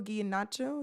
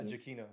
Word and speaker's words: Giacchino: And then also Michael Giannaccio, is that how you say it? yeah, Giacchino.